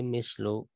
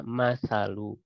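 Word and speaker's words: مَثَل: juga karimah, bi fathihima, dengan memfathahkan keduanya, maksudnya mim dan sa tadi berarti dibacanya masalu, ya kan, memfathahkan keduanya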